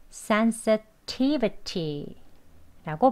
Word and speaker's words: sensitivity: 여기도 역시 강세 1, 제1 강세 여기 있습니다. T, 그죠? But T 앞에 강하게 그리고 두 번째 또 강세예요. 그래서 센, 센도 조금 강세를 주어서 sensitivity라고 발음합니다.